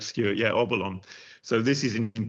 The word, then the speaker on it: Obolon: This is a I hope I'm going to pronounce it right. Obolon, is that right? That's correct, Stuart. Yeah, Obolon.